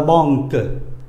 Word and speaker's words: banque: Rồi nhưng mà nó sẽ có trường hợp thứ hai là QU. QU cũng đọc là cờ luôn. La banque, giống như là C, banque.